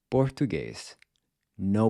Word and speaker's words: português: So taking the /p/ sound in the word “hip-PO”, you get “português”—no puff of air.